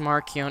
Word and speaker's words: Markion: It's pronounced Markion, and your mic is too far away again, I think.